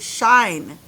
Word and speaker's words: shine: It's the word shine.